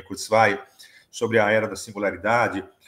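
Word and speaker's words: Kurzweil: sobretudo aquela eh defendida por Kurtsv há muito tempo ou Kurtsway, a melhor pronúncia para mim é Kurzv, sobre a era da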